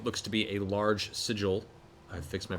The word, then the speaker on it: sigil: finished drawing what looks to be a large sigil-- I fixed my pronunciation in that, thank you-- SAM: I like "siggle." MATT: I grew up with "siggle," and nevertheless-- I know.